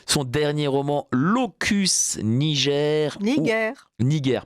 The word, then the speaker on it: Niger: Niger, pardon. Niger, parce qu'on prononce à la latine, c'était un G dur.